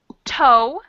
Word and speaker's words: toe: Then toe, which is strange because it's the O-E, but it just makes an O sound.